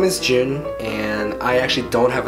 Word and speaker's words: Joon: spelled a little differently instead of J like the month it's spelled j o o n and I guess for